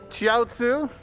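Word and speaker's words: Chiaotzu: you can also in the Dragon Ball Z run tonight choose the heroic sacrifice chiatsu I said it right this time and Yamcha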